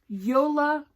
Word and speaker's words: Jolabokaflod: Jolabokaflod. Yola, the J sounds like a Y.